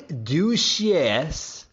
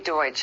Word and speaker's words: Deutsch: Donnie Duchesse, if I'm pronouncing that right.